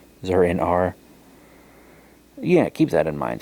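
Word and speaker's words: Zur-en-Arrh: Zur in Ara, so, or Zur in R, I think is how it's supposed to be pronounced. Zur in R.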